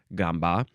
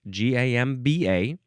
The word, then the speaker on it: gamba: the lingua franca word gamba, but this one is spelled the same way, Gamba. It can be pronounced gamba or gamba.